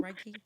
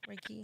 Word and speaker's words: Reiki: Reiki, Reiki.